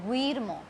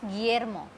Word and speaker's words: Guillermo: So it is not Guillermo. We will not pronounce this U. We will pronounce Guillermo.